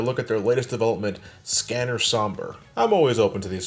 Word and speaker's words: Sombre: I'm pronouncing it as Sombre since this is just a variation of the English word, like colors and colors.